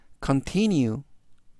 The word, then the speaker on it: continue: 환해 한다라는 뜻이 되겠습니다 이번 단어는 continue 뉴라고 발음하시면 되겠고요 이때 강세는 t 바로 뒤에 있는 아의 강세가 있습니다 그래서라고 발음하시면 좋겠고요 품사는 동사 뜻은 계속되다